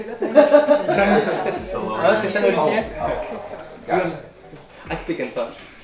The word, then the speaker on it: Thessalonians: Thessalonians.